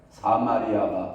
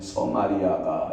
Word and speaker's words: 사마리아: 봅니다 16절에 보면 사마리아가 이거 발음 잘해야 돼요 사마리아가 발음 해야지 잘못했다가는 우리 안수집사님 서마리아 이렇게 발음 했다가는 큰일납니다 사마리아가 그들의 하나님을 하였으